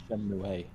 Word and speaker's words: Shenmue: it's actually Shenmue. The E's Stop. pronounced different. Stop. But is Shinmu the correct pronunciation in English compared to the Japanese actual pronunciation?